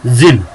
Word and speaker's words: Djinn: ये DJINN लिखा हुआ है, लेकिन इसमें ये जो डी है ये साइलेंट है. अब यहाँ पे हम इसको क्या पढ़ेंगे? जिन.